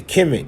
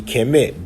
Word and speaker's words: Kemet: See, Kemet, black land. But you pronounce the T in the bread loaf, but you don't pronounce the Nuet, letting you know this is a city.